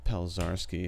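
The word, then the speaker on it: Pelczarski: Yeah, it's Pelzarski, if you want to know how to pronounce my last name.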